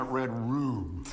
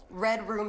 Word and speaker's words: Red Rum: So why are we calling it Red Room? Well, there's a line above that U. That knife is a line, and that makes that a long U sound.